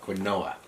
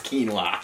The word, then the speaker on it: quinoa: you go quinoa perfect a lot of people call it could Noah but it's quinoa quinoa pit no minion